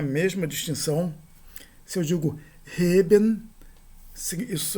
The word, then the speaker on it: heben: E se eu digo e, isso é um adjetivo que significa plano. Pode ser também uma partícula significando justamente, mas de todo modo heben e eben é uma diferença não apenas de sons, mas também do significado das palavras, assim como ocorre na língua grega.